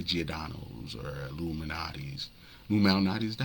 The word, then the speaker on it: Lou Malnati's: Lou Malnati's, is that how you say it? Lou Malnati's, yeah.